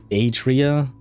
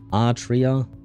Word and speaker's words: Atria: Uh, Alpha Trianguli Australia is officially named at Atria Atria. Yeah, I still don't know. Um, they call it pronounced like at tree, right? At tree because the name is so long.